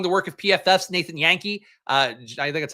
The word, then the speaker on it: Jahnke: work of PFF's Nathan Yankee, I think that's how you pronounce his name. It's spelled like Jahnke, but I think it's like Jonky. Might be Yankee.